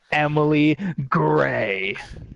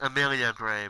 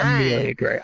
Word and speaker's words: Amelia Gray: It is the current Apex Women's Champion, Emily Gray. It's pronounced Amelia Gray, but okay. Amelia Gray.